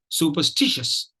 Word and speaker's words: superstitious: two uh stress syllables Stitch is the primary stress the third syllable is a prime minister syllable and uh so is the the first syllable is the secondary stress level but we'll appreciate it